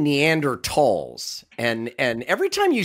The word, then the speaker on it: Neanderthals: Yeah, so the German pronunciation would be Tall.